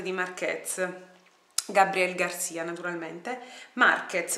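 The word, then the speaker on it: Márquez: Marquez, non Marquez, Marquez, l'accento è sulla A.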